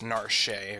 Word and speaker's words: Narshe: Or Narshe. It's actually pronounced Narshe, according to the Japanese name.